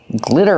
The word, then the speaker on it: glitter: Because it has this glitter on it. It's called glitter. The sparkly stuff is called glitter. Pronunciation, like this is. Glitter. The double T is pronounced like a fast D. Not glitter, but glitter.